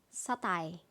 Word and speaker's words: satay: Untuk selanjutnya sate, tulisannya SATAY, ini kita bacanya satai.